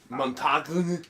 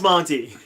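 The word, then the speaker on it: Montagne: Montague. But it's you pronounced Monty.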